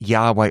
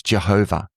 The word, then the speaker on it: Jehovah: And some translations do translate that Yahweh, or another way in which that is pronounced is Jehovah as well, traditionally. Okay. So Yahweh or Jehovah are two different ways of rendering those, just with different vowels, rendering those consonants.